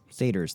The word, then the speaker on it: satyr: How do you pronounce that? The what? Satyrs? Satyrs, thank you.